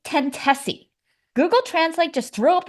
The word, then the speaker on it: Tentosy: with their outdated rules I had to check with them on just how to pronounce this band's name which they confirmed my two guesses of course were completely wrong it should be tessi Google translate just threw